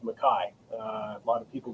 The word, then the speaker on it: McKay: But typically, our understanding and our branch of the clan and family is that in the Highlands, it's pronounced Mai. Uh, a lot of people get it wrong with McKay.